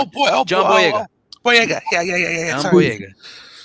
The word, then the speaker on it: Boyega: But I thought John Biol, I can have a hard time pronouncing his last name, Boya. Favreau. Oh, Oh boy! Oh boy! John Boyega.